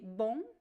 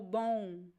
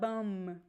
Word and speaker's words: bom: bit on the accent so it could be bong or bone bone but there's no M it's not BM bone bone so we could pronounce the o u and there is a nasal sound it goes the the air goes through your nose and mouth at the same time so this sound